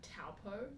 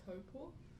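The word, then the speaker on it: Taupō: If we're talking about like, I don't know, accents, a lot of people say like Taupo, which is the name of a town, instead of Taupo, which is like the Māori pronunciation, instead of like Rere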